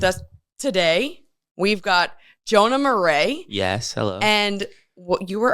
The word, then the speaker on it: Marais: have it's all good so it's not Marias no morray which I love that